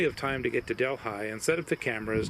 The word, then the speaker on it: Delhi: Colorado along Highway 350 is the town of Delhi yes that's how it's pronounced to call it a town as being